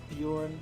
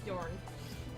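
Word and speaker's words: Björn: Also, it's Bjorn, not Bjorn. I said Bjorn. I thought his name was Bjorn. I forgot there was an N at the end. It's Bjorn, not Bjorn.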